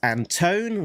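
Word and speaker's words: Antone: Uh letter letterer is Pat Brusso and uh editor Alex Anton rhymes with phone.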